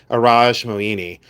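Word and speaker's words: Iradj Moini: I say Araj Moini. People pronounce it in many different ways, but I've always said Araj Moini.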